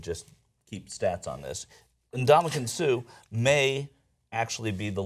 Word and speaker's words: Ndamukong: Ndamukong. Well, in trying to, like it's spelled.